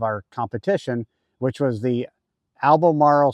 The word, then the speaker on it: Albemarle: competition which was the Alam Marl sound I think I'm saying it correctly but at least that's how Ken says it but uh it's really